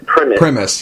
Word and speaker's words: Primus: about it but liveries my name is pronounced Prem Aramis yeah yeah every says Primus guys got used to that so whatever it